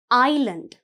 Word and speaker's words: island: ஐலண்ட். பாருங்க, ISLAND. ஐலண்ட். இதில் எஸ் இருந்தாலும் இந்த எஸ் வந்து சைலண்ட். நாங்கள் இஸ்லண்ட் என்று சொல்கிறதில்லை. சரியா பிள்ளைகள்? ஐலண்ட். You have to pronounce it ஆஸ் ஐலண்ட்.